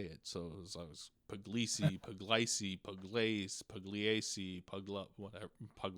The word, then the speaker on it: Pugliese: it spelled out, because there's a silent G in there, and in pardon me, and in Italian, a G and an L next to each other make this liquid L sound, so it's Pugliese, right?